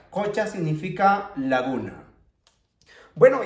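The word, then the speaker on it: qucha: Tenemos otro ejemplo, aquí tenemos la Q, por lo tanto esta U se tendría que pronunciar con la vocal O, que sería cocha, cocha, cocha significa laguna.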